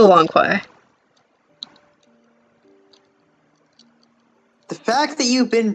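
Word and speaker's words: Lanque: cast drama it's definitely lanku uh i've been pronouncing it wrong this whole time i'm sorry it's spelled q-u-e it's totally long koi the fact that you've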